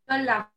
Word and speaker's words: Dolla: Dola, Doya ou Dola, je ne sais pas comment ça se prononce. Dolla. Allez-y. Dolla. Oui, c'est Dolla.